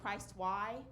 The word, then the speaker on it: Christy: me, she named me Christy, but she spelled it Christ Y. Because that's what she was thinking. She just put Christ Y on the birth certificate, but they pronounce it Christy, so it's like, geez, Mom.